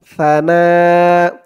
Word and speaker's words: ثناء: নুন আলিফ জবর না সানা তার উচ্চারণটা একদম নরম হবে সানা হামজা দুই জবর